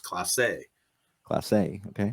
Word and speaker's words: Clase: pronounced or it's spelled c-l-a-s-e but it's pronounced Clase Class A okay it looks like Clays but it's pronounced Clase like a he's French